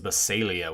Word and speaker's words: Basilean: The way that our good buddy Mr. Green does it, and the way I think he was instructed to say it was Basilia, which I had to train myself to think that way too. So it's bizarre because it does not work phonetically in my brain.